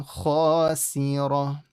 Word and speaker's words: خاسرة: And then you have khasi ra. Ra is full, and then the ta changes into a ha. قالوا تلك إذا كرة خاسرة.